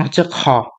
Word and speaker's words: خ: কারণ এর উচ্চারণ খা না এর উচ্চারণ হচ্ছে খ।